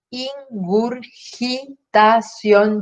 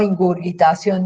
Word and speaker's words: ingurgitación: Les pido que recuerden con claridad la palabra, es ingurgitación yugular, no ingurgitación. Ingurgitación se escribe con G, pero no tiene U en la segunda sílaba con G, por lo tanto suena ingurgitación yugular.